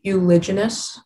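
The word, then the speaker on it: uliginous: say the word again euloginess um am i pronouncing it correctly euloginous as far as i can hear okay um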